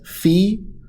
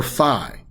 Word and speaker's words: phi: that omega and also either you could pronounce it as fee or phi not fo or thumb just fee or phi are both correct pronunciations of the that one